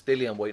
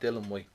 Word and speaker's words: Dillian Whyte: He says it's Dillian Whyte, not Dylan Whyte.